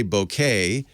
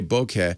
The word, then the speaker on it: bokeh: pronounce it some say bouquet some say bokeh and actually the japanese is somewhere in between a little bit it's bouquet so uh somewhere there